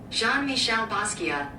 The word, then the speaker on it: Jean-Michel Basquiat: Let me see how you pronounce it. Jean-Michel Basquiat. Jean-Michel Basquiat.